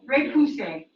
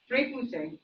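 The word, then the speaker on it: repoussé: Repousse, which is the French term for hammering from the inside and pushing the design outward. How do you pronounce it again? Repousse. Repousse, yeah.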